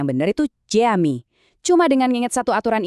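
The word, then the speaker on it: cami: Jadi pengucapan yang benar itu jami.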